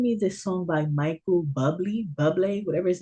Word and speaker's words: Bublé: Because I don't, yeah, because they're giving me this song by Michael Bublé, whatever his name Yeah.